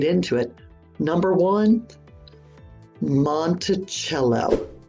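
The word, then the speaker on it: Monticello: into it number one monello monello not Montel for one it's the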